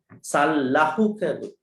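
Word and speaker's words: Sallahukavutti: So Lahuka has to start. L has to start. Sal. Lahuka.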